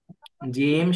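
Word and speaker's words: ج: জিহ্বার মধ্যখান তার বরাবর উপরের তালুর সঙ্গে লাগিয়ে জিম শিন ইয়া ঠিক আছে আর এই দ হরফটা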